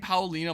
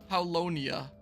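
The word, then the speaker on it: Paulownia: Mal work I know have I been saying Pina ma this whole time palonia is probably how it's better pronounced right everyone always hangs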